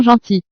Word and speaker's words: gentils: As a rule, we don't pronounce the final S in French, but we have to add it to reflect the plural form with ils sont.